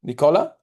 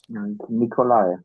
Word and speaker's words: Nikolai: Did I pronounce well, Nicola? Can you hear me? Oh, yes, yes, yes. Nikolai. Oh, Nicolai, yeah, I said in Italian, yeah.